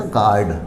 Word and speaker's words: guard: जैसे GUARD, देखो G और A यानी G हो गया, यहाँ वोवल है तो बीच में U है तो U की साउंड नहीं होती, इस वर्ड का प्रोनाउंसिएशन हो जाएगा गार्ड।